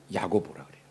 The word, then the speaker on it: 야고보: 히브리어 발음이 야곱이고 그것이 이제 신약에 와서 이제 헬라식 발음 헬라 발음으로 야고보라 그래요.